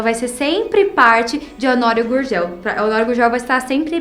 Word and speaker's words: Honório Gurgel: é super diferente aqui Honório Gurgel né a pronúncia dela bem carioca Honório Gurgel Para mim seria Honório Gurgel né porque eu sou aqui de Goiás Honório Gurgel forever Honório